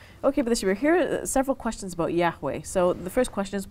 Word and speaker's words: Yahweh: Scholars I'll fill it out to say that Yahweh is the best uh pronunciation uh now according to the Bible this